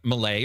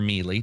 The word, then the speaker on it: melee: somewhere else it'll say uh Malay or melee depending on your pronunciation and then another place